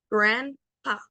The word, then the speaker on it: grandpa: Pues hay que poner un pequeño aire entre esa P, grandpa, grandpa.